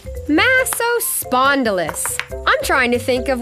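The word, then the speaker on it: Massospondylus: oh dear hi I'm massive spondylus you say it like this Maseo spondylus I'm trying to think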